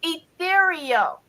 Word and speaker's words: E'threal: name for you lady it's ethereal ethereal like in the ethers above like coming from the Heavenly skies above like from out of this world hooker etheral is my